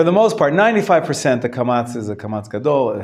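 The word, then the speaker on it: kamatz: to make that distinction they pronounce the kamats halfway towards the O A little bit like an oak and apatahas is the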